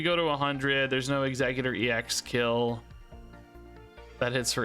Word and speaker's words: Exeggutor: You guys say it's executor. Is how you want me to pronounce it. Surely you don't pronounce it execute.